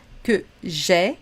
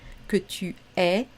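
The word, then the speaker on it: que j'aie: d'accord le verbe avoir que j'ai attention à la prononciation que j'ai que tu es qu'il est bien sûr les trois se prononce de la même façon que nous ayons que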